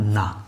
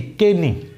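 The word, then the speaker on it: knee: এখন যদি আমি কে সহতার উচ্চারণ করতে চাই তাহলে হয়ে যেত কি? কে নি। কি হতো? কে নি। কিন্তু এর উচ্চারণ কে নি নয়, এর উচ্চারণ হবে শুধুই নি।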